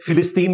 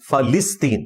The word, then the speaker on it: فلسطین: یہ لفظ ہے فلسطین، ویسے بولنے میں فلسطین بھی لوگ بول دیتے ہیں. فا کے اوپر زبر ہے، لام کے نیچے زیر ہے، فلسطین. اسی لیے اس کے انگلش میں جو سپیلنگ ہے پیلسٹائن ہے، پی کے بعد اے آتا ہے، یعنی فا کے اوپر زبر لگے گا.